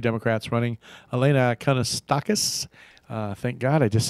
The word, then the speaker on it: Kounalakis: That's how I know how to pronounce her name. Kounalakis Matata.